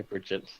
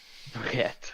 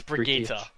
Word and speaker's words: Brigitte: Do I have to pronounce this properly, or can I say Bridget? You can say Bridget. Brigitte.